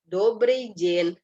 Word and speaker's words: добрый день: Penekanannya di O ya, sama di Y. Добрый день.